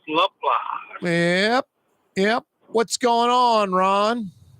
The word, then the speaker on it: Laplace: Spell Laplace, pronounce Laplace.